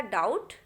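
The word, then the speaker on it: doubt: तो पहला जो लिखा है वहाँ बी दिखाई दे रहा है लेकिन बोलना नहीं है, तो ये हो जाएगा डाउट।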